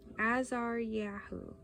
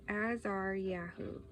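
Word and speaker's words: Azariahu: hold on this sorry this name is a little bit hard a Azar yahu I'm pretty sure that's it's spelled a z a r y a h u so AAR Yahoo Michael and shefah all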